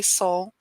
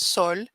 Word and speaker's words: Sol: only three letters and even the american accent you just say soul the real pronunciation is sol but that people had